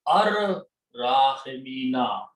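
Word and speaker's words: الراحمين: Now when you read this together first, ra is a shamsi letter, it will kill the sound of lam, so it become ar rahimina.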